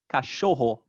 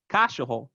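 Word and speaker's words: cachorro: would be last so in the word for dog cashoho the stress is on the second to last syllable if it was on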